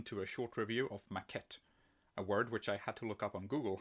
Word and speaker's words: maquette: hi everyone welcome to a short review of maquette a word which I had to look up on Google how to pronounce because neither French nor English is actually